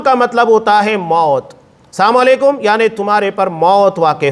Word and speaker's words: السلام علیکم: لوگ غلطیاں کرتے ہیں۔ سلام جو صحیح تلفظ کے ساتھ ہے ادا کرنا چاہیے، السلام علیکم ورحمۃ اللہ وبرکاتہ۔ بہت سارے لوگ السلام علیکم، یہ روانی میں السلام علیکم، یہ جو روانی کے اندر غلطیاں کی جاتی ہے بڑی بھیانک ہوتی